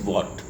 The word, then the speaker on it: watt: double t w a double t is the pronunciation is what not w h a t minor so this